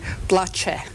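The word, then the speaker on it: Blace: PL AC e macedonia now he pronounced BL AC e PL AC bloch a thousands continue to flee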